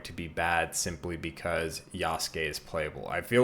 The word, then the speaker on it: Yasuke: The amount of people that say Yasuke, Yasaki, Babaki, bro, I'm getting sick of it.